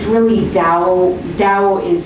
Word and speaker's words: Dao: and he's written it's sometimes it's pronounced like a d but it's hard to translate the this language so it comes out um with a t but it's really dao tao is how you